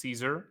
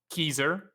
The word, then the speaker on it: Caesar: I'm not exactly sure how it was pronounced but people say Caesar today but the C in Latin is is pronounced as a K, not a C.